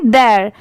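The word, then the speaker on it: their: ये लिखा होता है तो इसे हम क्या प्रोनाउंस करेंगे देयर ठीक है ये स्पीड में पढ़ेंगे देयर और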